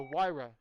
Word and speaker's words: Huayra: bought a Pagani Huayra it's not how it's spelled it doesn't sound like it's spelled it is the Huayra and oh my god